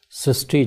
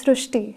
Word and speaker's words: Shrushti: So in Marathi, the word Ri is pronounced as Ru. So that is why the pronunciation goes Srishti.